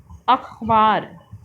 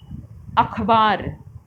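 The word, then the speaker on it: अख़बार: नुक्ता लगने के बाद उच्चारण, अक्षर का उच्चारण बदल जाता है। आइए अब कुछ नुक्ते वाले शब्दों को बोलकर पढ़ते हैं। बाजार, अखबार, ज़मीन, अंग्रेज़ी, सफ़र। इन्हीं को अगर हम बिना नुक्ते के बोलेंगे तो बाजार, अखबार, ज़मीन, अंग्रेज़ी, सफ़र, तो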